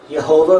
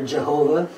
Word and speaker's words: Jehovah: not as concrete so the name yehovah or Jehovah is an angiz pronunciation of the tetragramaton tetr grammaton is a